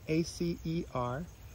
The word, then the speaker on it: Acer: Like the other maples, the genus is Acer, A-C-E-R. I think some pronounce it Acer.